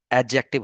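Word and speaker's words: adjective: हाँ, और इसका प्रोनाउंसिएशन एडजेक्टिव होता है। ठीक है, जैसे हम बहुत ज्यादा इसको एडजेक्टिव पढ़ते हैं ना, तो वो थोड़ा गलत होता है। तो एडजेक्टिव डी साइलेंट होता है इसमें।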